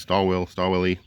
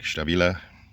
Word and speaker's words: Stabila: The American in me wants to say they're pronounced Stallwilly. I know it's actually pronounced more like Stabila.